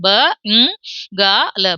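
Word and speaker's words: बंगाल: அதை தான் இங்க உச்சரிக்கணும் ப ங் க ல பங்கால் இப்ப ச வர்க்கத்தினுடைய கடைசி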